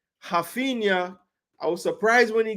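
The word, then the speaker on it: Raphinha: got the start I should say it correctly haena I was surprised when he got the start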